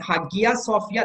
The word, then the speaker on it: Hagia Sophia: And Hagia Sophia, the exact Turkish pronunciation is Hagia Sophia.